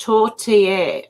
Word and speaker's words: tortilla: It's pronounced tortilla.